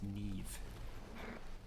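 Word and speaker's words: Niamh: old irish very well the really painful one is their complete failure to pronounce neve but it's a really damn common name i know just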